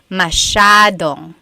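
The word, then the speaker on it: masyado: do you pronounce mashad mashad means a lot so the s y a is a Sha Sha sound masad yep EJ said miamii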